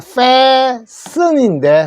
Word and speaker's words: fasten: 자, 좌석 벨트를 맨다는데 fasten 하는 말, 요게 fasten인데 fasten 하지 마십시오. 트 소리는 묵음이에요. 소리 안 나는 겁니다.